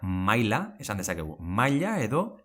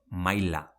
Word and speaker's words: maila: langille, never langiye and Maila: malla or we can say Maila, never maya To finish, as we would say "Ilargia" pronunciation cared?